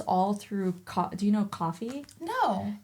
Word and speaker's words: Ko-fi: Do you know Coffee? No. It's like. It's spelled like KO-FI, and then it's kind of like Patreon in that sense, where you can like sell.